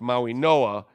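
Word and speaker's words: Mauigoa: NOAA Maui Noah right that's how it's pronounced Maui Noah even though it's not spelled that way or beast assistance Gordon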